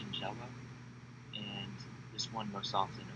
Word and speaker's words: Shigella: The other one is a bacterial strain, pronounced Shigella, and this one most often affects the adults, so that 70 plus age group category.